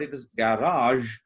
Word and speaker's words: garage: know we tend to pronounce it as garage but it is garage because it's a french loan word and in french language they would pronounce it somewhat like ours a